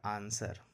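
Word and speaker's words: answer: उसी तरह से ए एन एस डब्लू ई आर है तो डब्लू नहीं पढ़ेंगे, इसको पढ़ा था आंसर, यानी डब्लू साइलेंट हो जाता है।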